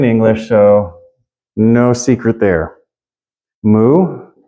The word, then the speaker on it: mu: so no secret there moo exactly the same except for when you write it out it's like a as a friend of mine said years ago funky you with a tail so it says moo moo yeah you can say Mew a lot of Greek Scholars will say Mew due to older forms of English pronunciation huh so wait a